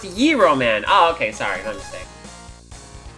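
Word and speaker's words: Gyro Man: It's pronounced Yiro Man.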